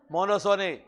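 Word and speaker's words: monopsony: अरे P silent है उसमें, मोनोसोनी, लिखने में P लिखोगे लेकिन बोलोगे मोनोसोनी।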